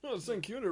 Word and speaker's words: St Kilda: St Kilda rhymes with Tilda.